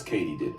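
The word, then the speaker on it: katydid: Turns out it's Katie did. As in, did Katie do it?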